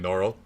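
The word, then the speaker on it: Norrell: better but it's actually noral yeah and that's really funny but with an American accent it's especially horrible because you can just swallow those L's you know oh definitely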